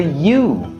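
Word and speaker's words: ewe: And a mama sheep is known as a U. No, not U. U.................... It's. It's spelled E.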